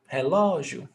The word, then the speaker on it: relógio: Stressed syllable before last. Paroxítona. Ending in ditongo. Acento. Relógio.